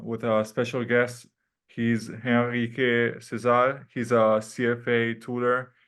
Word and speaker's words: Henrique: Like Giacomo said, my name is Henrique Cesar, or Henrique Cesar, or Henrique, like they pronounce in Portuguese.